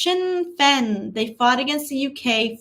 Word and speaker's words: Sinn Féin: It's pronounced Sinn Féin. They fought against the UK for decades. Sinn Féin.